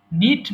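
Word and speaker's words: knit: এবার দেখো এখানে কিন্তু কের উচ্চারণ হবে না, এবং যখন উচ্চারণ হয় না সেটাকে বলতে হয় সাইলেন্ট লেটার। সাইলেন্ট লেটারগুলো আমরা উচ্চারণ করতে পারি না। সো এটাকে বলতে হবে নিট মানে বোনা।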